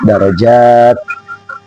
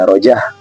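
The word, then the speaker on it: درجات: tapi dibaca pendek ya Darajat itu ada Alif dan ta Tanis ada Alif dan ta Tanis Jadi bukan ta marbut Yang ketika diwakfkan tentu dibacanya tetap Darajat bukan menjadi darajahah itu ada Alif dan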